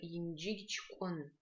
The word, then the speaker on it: Янджигичкон: Здесь мы с вами можем обратить внимание на следующие звуки. Во-первых, звук Дж, который пишется как ДЖ мягкий знак Дж. Звук Г, который пишется как Г мягкий знак Г. Звук К, который пишется как К палочка В.